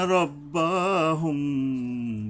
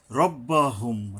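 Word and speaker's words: رَبَّهُمْ: রব্বাহুম, রাব্বা নয়, রব্বাহুম, এই মিমের উপরে এখানে একটা গুণনা করতে হবে।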